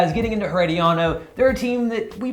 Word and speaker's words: Herediano: And first off, am I saying it right? Herediano. All right, yeah, you got to roll the R.